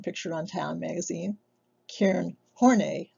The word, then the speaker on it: Horney: We'll look at four of the most renowned: Carl Jung, shown pictured on Time magazine; Karen Horney, no, it's not pronounced horny.